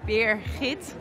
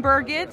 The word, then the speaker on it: Birgit: is my name because you pronounced it as beer hit and I can give you already four different versions so here in Paris I'm pretty sheet in New York I'm Birgit which is basically the worst one I'm French I'm a